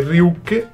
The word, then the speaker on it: Ryuk: Potete vedere Ryuke, che si pronuncia con la E finale.